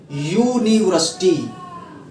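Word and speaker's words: university: अब इसका यूनिवर्सिटी का आप उच्चारण करके देखिए, यूनिवर्सिटी, और जो ये है ये वोविल नहीं होता,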